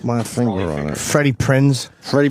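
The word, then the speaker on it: Prinze: I can't put my finger on it Freddy Prince Freddy Prince Freddy Prince yeah is that how you say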